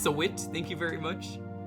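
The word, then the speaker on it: Sahwit: Frank Saw to the stand. It's pronounced Sawit.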